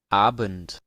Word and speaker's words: Abend: Abend. Abent. Veamos. Aquí tenemos tres accesos de audio, por ejemplo. Abent, abent, abent. Aquí en realidad estaríamos escuchando pronunciación estándar en todos.